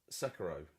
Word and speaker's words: Sekiro: That's the official pronunciation that's been Sekiro confirmed.